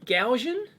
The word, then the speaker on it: GaN: your advantage with um Gan is that how you pronounce it I I've only read it gan gan gan is how I have always pronounced it Gan only read it